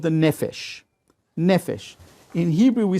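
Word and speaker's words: נפש: And after that, we have what's called the nefesh. Nefesh. In Hebrew, we spell it nun, pei, and shin.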